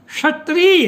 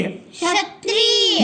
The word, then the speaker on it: क्षत्रिय: देखो, इसको छ नहीं बोलना है, हमको क्या बोलना है? श। यानी हमको षटकोण वाला स और छ के बीच का जो उच्चारण होता है श, क्षत्रिय, क्षत्रिय। ये बोलना है।